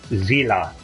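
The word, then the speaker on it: Seele: pronounce it correctly which the correct pronunciation is zina by the way which is German for Seoul but regardless I quite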